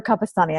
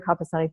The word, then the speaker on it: Capestany: Jennifer Capestany. I'm pronouncing it correctly, yes? You are. Okay, fantastic. Jennifer Capestany, thank you so much.